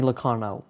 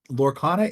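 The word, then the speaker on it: Lorcana: card yes in it what is this Disney Lana what what am am I saying it right what is it it's so lorana is the Disney card game um basically Ravensburger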